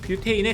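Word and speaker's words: butane: 부탄가스는 부탄의 원어 발음인 뷰테인에 가깝습니다.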